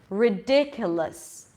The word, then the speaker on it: ridiculous: Ridiculous, less. Nothing there. So again, like with the ER, you pronounce the L sound, the consonant, and then you shift immediately to the S.